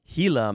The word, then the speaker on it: Gila: All right, moving on to it's hila monster. Hila monster. Ah, capital g I l a spells hila. Okay, because this is not an English word.